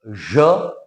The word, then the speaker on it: je: Pronunciation is je.